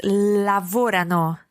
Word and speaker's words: lavorano: Lavorano. Lavorano. I'm not 100% sure where you're stressing that, Isla. Remember, it's lavorano. Lavorano. Bravissima, Isla. It's tricky to get that stress right in the they form.